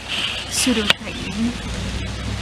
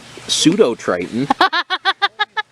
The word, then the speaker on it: Pseudotriton: It's a plausible pseudotriton. Yes, it's a plausible pseudotriton. That doesn't work. But the silent P doesn't really make that work.